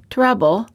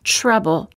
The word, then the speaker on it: trouble: an almost CH sound when the t is followed by an R sound the T changes and becomes an almost CH sound instead of saying trouble we say say trouble instead of saying TR